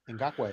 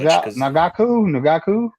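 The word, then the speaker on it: Ngakoue: Ngakwe. Yes. Oh, we got to get this kid. He probably won't be too much. Nagaku? I don't know how to pronounce that. Ngakwe. Ngakwe.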